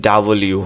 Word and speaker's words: W: হ্যাঁ, মানে এখানে যে রশ্মি যে এটা আছে না, এটা খুব দ্রুত উচ্চারণ করবে ডাবলিউ, যদি তোমাদেরকে শোনাই খেয়াল করো।